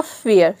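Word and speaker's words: fare: का हो जाएगा फ और ए का हो जाएगा एय क्यों क्योंकि एफ के बाद क्योंकि ए के बाद रूल के अकॉर्डिंग आर ई आ रहा है इसलिए हम यहां पे ए को ई प्रोनाउंस करेंगे और यहां पे आर का र हो जाएगा और यहां पे जो ई है वो साइलेंट है क्यों क्योंकि य वर्ड के लास्ट में आया है ठीक है तो ये हो जाएगा फेयर फेयर मतलब होता है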